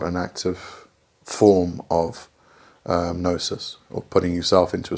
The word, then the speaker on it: gnosis: And okay, the last principle of chaos magic is gnosis, spelt with a G in, by the way. It's got nothing to do with your nose.